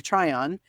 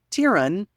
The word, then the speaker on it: Tryon: in Outlander as Governor Tron and uh or as I sometimes mistakenly pronounce it Governor tyan out outrageous you'd be